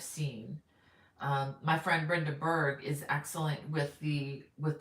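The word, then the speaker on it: Bourg: my friend Brenda Berg her last name is spelled b-o-u-r-g but it's pronounced Berg Brenda Berg she has an excellent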